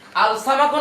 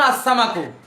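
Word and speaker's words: السَّمَك: নামবাদ scene সামাকুন মাছ এখন বলেন আল সামাকুন আসসামাকু আসসামাই আসসামা লাম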